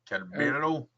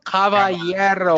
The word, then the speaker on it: Caballero: Calabero. Where? Randy Caballero.